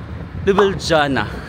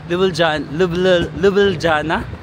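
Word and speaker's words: Ljubljana: hour bus 4 hour bus from Venice to lubana my god ang hirap i-pronounce ng kanilang City lubana and then um sasakit tayo via flix bus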